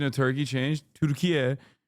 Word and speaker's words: Türkiye: Türkiye is the actual Turkish pronunciation of the country's name.